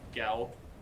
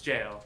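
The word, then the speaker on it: Gaol: in the gap in like the gal that's like it's pronounced it's jail yeah but you know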